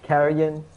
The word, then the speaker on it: Carrion: Carrion, Deliam, is that how you pronounce the name? Yeah.